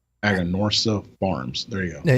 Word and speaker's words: Aganorsa: Aganorsa leaf. It's out of their farms. Jeez, am I saying that wrong? Aganorsa Farms. There you go. There you go. There you go. I've been mispronouncing them since 2017.